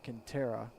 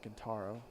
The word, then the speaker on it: Quintero: It's a Quintero, not Quintaro.